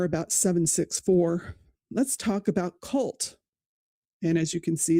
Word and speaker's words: CVLT: It was born from something called Cult, pronounced just like the word cult, because that's exactly what they are.